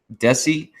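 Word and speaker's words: DESI: outline the digital economy and society index called deci as it's pronounced in an acronym so this report outlines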